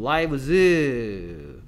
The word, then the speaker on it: lives: adult lives가 아니고 lives라고 읽어야죠. lives.